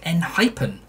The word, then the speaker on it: Enhypen: official music video it seems to be said n hyphen that spelling mistake of the band's name on